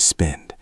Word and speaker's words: spend: Listen to the word spend. It has a d sound at the end that we often forget when we speak quickly.